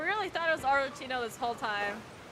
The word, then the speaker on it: Arlecchino: way it is but arino is C that's pronounced like K it happens in some romantic languages my God arino then